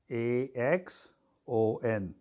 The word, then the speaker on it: axon: long part is called exit or eggs on a x-o n so what cell body site on the long tail is Exxon or axon is pronounced it so in case of site on